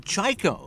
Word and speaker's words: Chajko: Brings up the left fielder, Sarah Chaiko, who was nice enough to tell us how to pronounce her last name. Spelled Chajko.